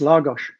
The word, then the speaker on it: Lagos: And there you are, you've moved from London to Lagos. Lagos. How do you say it, Clive? Yeah, it's Lagos. So it's like a gosh, like golly gosh.